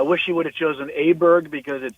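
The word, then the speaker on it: Ludvig Åberg: It's not easy because he's got the A and the Aberg. Well, they also they kept pronouncing it differently constantly, like as it.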